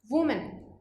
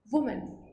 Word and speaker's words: women: Next है जो जो प्लूरल है, अब इसकी क्या प्रोनाउंसिएशन हो जाएगी विमेन, विमेन। तो यहाँ पे देखिए वो की साउंड आ रही थी और यहाँ प्लूरल वाले में क्या हो जाएगा वी, विमेन, वी की साउंड आती है।